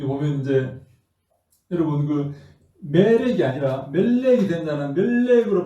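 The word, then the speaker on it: מֶלֶךְ: 그래서 멜렉은 멜렉 이렇게 우리가 발음하지만 이음절 단어이다 하는 것을 여러분 기억하시고 다바르 한번 보자.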